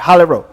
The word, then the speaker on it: Rowe: Yeah, I yeah, I'm saying it right. Rowe.